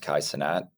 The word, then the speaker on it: Kai Cenat: So you see all these guys that, again, like Kai, I think it's pronounced Kai Cenat, right?